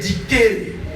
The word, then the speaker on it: dicere: Et sa composition, il y a deux mots bene na verbe dicere. Comme D-I-C-E-R, mais en latin ça se dit C-O-N-A-K, dicere. Dicere veut dire dire, prononcer, parler.